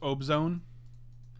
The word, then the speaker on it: Abzan: It's pronounced Obzone.